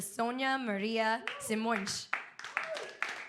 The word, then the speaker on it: Sonia-Maria Simões: So let's please give a warm welcome to Sonia-Maria Simões. And I hope I pronounced your name correctly.